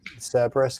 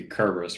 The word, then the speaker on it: Cerberus: participating in is the cerberus kerberos cerberus yeah how do you say that i think technically if we're talking greek then it'd be kerberos right yeah maybe because caesar